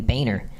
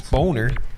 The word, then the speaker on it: Boehner: Actually, I think you say his name Boehner. Whatever. Everybody reads it and thinks it's Boner.